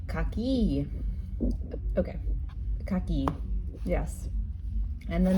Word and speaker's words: kaki: And I know that in Italian it's cocky. So I said, "Oh, cocky." And they looked at me like, "What?" They said, "Oh, kaki."